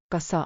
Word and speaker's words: kas: Sounds like cause. saw like saw. Put them together. Kassa.